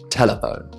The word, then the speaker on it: telephone: Like telephone is not telephone.